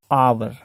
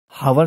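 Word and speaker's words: hour: आवर। Pronounce जो है इसका आवर आता है, हावर नहीं कहते, आवर कहते।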